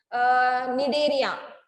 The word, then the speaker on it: Cnidaria: Cnidaria. Cnidaria. Cnidaria. Cnidaria. C is silent.